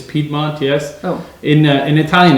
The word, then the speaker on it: Piedmont: area the region is piedmont in english it's piedmont yes oh in italian it's pie month so